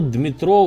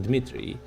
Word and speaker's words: Dmitry: the Russian Federation, General Dmitro Bulgakov. Dmitry, I'm not gonna, it's a Russian pronunciation, Dmitry Bulgakov.